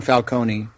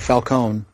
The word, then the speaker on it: Falcone: Which I had always said Falconee, but Right. Right. You know, it's interesting because um I'd never pronounced it falcone either, ever. I'd always been Falconee when I read it. But uh after this movie, I could never hear it the old way again.